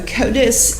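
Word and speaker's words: CODIS: So, Kotus is an acronym that stands for the combined DNA indexing system.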